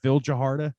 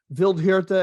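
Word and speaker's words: Vildhjarta: know if i say that name is it phil jaharta uh vildevilled i think it's vildejirta i actually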